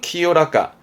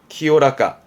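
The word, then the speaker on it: 清らか: 나 형용사로서는 키요라까, 키요라까.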